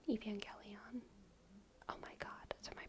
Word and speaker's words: Evangelion: I have seen it I think soft G because you angelical I know that's what I think but my my my mouth and my brain wants to say gion okay but everyone agrees jelly on my mouth and brain are just wrong when you were a kid no it's g no no I think think you're saying it right I am saying it right Evangelion oh my God so